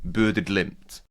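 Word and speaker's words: Bodø/Glimt: So I think a purist, and we know several journalistic purists would be like would say that the Norwegian pronunciation is somewhere in the region of Bodo Glimt.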